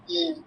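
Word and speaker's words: ح: হ্যাঁ হ্যাঁ, এবার হা, হা আর আইন, হা আর আইন, দেখো গলার মাঝখান থেকে হবে, হা, আইন, গলার মাঝখান থেকে, হা, আইন, একই একই জায়গা থেকে উচ্চারণ করতে হবে, হ্যাঁ।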